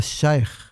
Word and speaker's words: sheikh: Então, a palavra sheikh, a pronúncia correta como é?